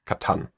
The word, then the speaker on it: Catan: Katan and some well I believe the correct pronunciation is Katan Katan okay because it's German okay well so